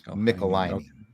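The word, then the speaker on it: Michelinie: you pronounce it and they wrote back it rhymes with pickle my knee so it's mickelein i've heard van's podcast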